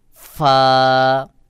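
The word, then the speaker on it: فاء: তারপরে ফা, ফা অনেক সময় আমরা দুই ঠোঁট একসাথে করে উচ্চারণ করি। সহি উচ্চারণ হলো নিচের ঠোঁটের পেট সামনের উপরের দুই দাঁতের আগার সঙ্গে লাগাইয়া বাহিরের দিকে বাতাস বের হবে। যেমন ফা, ফা।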